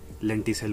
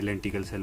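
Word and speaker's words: lenticel: और लेंटी sales होते हैं, लेंटी सेल बोलते हैं, पीछे मैंने लेंटिकल सेल बोल दिया था, गलती से प्रोनाउंस हो गया था।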